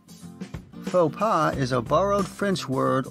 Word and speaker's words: faux pas: Note that even though it retains its French spelling and seems like a French word, we pronounce it in an anglicized way.